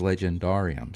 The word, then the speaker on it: legendarium: Right, but he used the older pronunciation, which is Legendarium. So legend, and then just the.